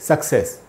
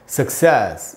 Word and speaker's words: success: अच्छा दोस्तों, ये जो वर्ड है सक्सेस, सफलता, इसको हम लोग अक्सर बोलते हैं ऐसे सक्सेस। सक्सेस नहीं होगा दोस्तों, जो शुद्ध उच्चारण वो है सक्सेस। दूसरा वाला जो स है उस पर ज़्यादा जोर डालना है आपको, सक्सेस, इस प्रकार से बोलना है।